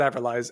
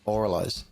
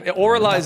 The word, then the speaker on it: Avralize: But yeah, they're like, yeah, everyone calls it avralize, and they're so they actually have admitted that it's oralize. Yeah, oralize is what it is.